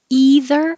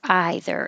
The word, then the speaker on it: either: zech is e head this can be two ways either either and they're both correct so just which one